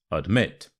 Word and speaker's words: admit: important word here is admit so the a becomes a uh so it's not admit it's admit and the stress is on the second syllable so I must admit